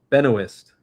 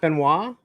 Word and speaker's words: Benoist: Benoist. It's not Benoit? No. Isn't that how it's Isn't that how how it's spelled, though? No, there's a S there.